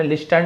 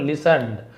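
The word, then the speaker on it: listened: the father simply लिसन and said, पिताजी ने बस सुना, तो यहाँ पे टी साइलेंट, लिस्टन नहीं बोल, लिसनड, टी को नहीं पढ़ना है, एंड सेड, और कहा,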